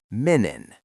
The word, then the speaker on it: Menen: Menon.